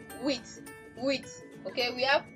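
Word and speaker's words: huit: So can we see that the H is silent in French language? You just hear wit.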